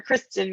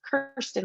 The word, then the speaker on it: Kirsten: Well, so Kirsten is a word that could be pronounced many different ways, and and it's very prone to people saying Kirsten or Kristen or whatever. So I usually tell everyone it's Kirsten, like curse words.